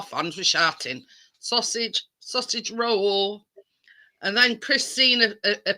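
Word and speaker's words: Röhl: um yeah the Sheffield Wednesday manager called Danny roll roll roll it's spelled r o HL so in the grand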